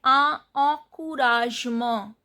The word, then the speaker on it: encouragement: Then encouragement, E-N nasal sound. C-O-U, O-U sound is U. Courage, G is pronounced as J because G is followed by E. Mo, En sound is nasal sound and T is not pronounced.